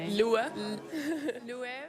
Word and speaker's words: Loewe: There was a campaign a long time ago pre pre Jonathan Anderson of just trying to teach people how to say it. Lov.